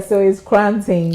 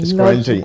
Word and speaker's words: Koranteng: The way they will pronounce The Ghanaians pronounce it. Yeah. So it's Koranteng, It's not Koranteng.